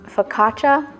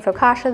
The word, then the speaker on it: focaccia: focaccia during this video the proper way apparently is focaccia i grew up saying focaccia though so that's just